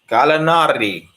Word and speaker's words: Gallinari: Gallinari. I gotta see him fitting. That's how you say his name.